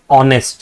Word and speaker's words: honest: H is not a vowel. But see when you pronounce this word it says honest right?